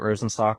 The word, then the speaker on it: Rosenstock: Is that how you say it, Rosenstock or Yep, Rosenstock?